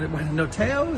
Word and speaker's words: notaio: There's a noteo, is that how you say it in Italian? Notaio?